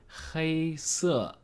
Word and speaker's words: 黑色: short video is about the basic chinese word hi Sue hi Sue which means black the color here's